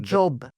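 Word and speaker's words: Zhob: Baluchistan job job. So I so I think so job I mean that's how I say it.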